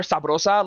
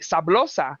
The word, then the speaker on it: sabrosa: But because they're Chinese, they don't pronounce the R, so they say sablosa. So it sounds like with an L.